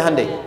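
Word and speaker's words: Hyundai: sehingga ketika di sana bikin Honda sini Hai hundai Kan dibacanya Handai kan sana Honda sini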